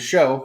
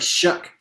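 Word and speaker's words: Shough: how we pronounce it when he played for Oregon was show but apparently it's she goes by is it like shook there I don't know if it was just like the broadcasters or something changing he's like hey guys that's actually not how you pronounce my name but I mean that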